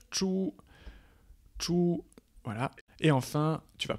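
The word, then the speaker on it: 猪: Ensuite, tu as bien évidemment le porc qui se prononce chu, voilà.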